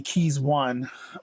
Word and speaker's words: Keyzone: So first up here today we have Keyzone, or it might be Keys One, but I think it's pronounced Keyzone.